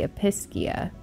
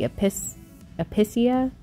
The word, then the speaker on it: Episcia: like I said before, because it's got a C in it, but it's not pronounced like a C, it's an S, so it can't be Episcia. It's got to be Episcia.